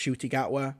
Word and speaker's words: Ncuti Gatwa: So he does mispronounce his name, but, you know, to be fair, I only knew that his name was pronounced Ncuti Gatwa because somebody very kindly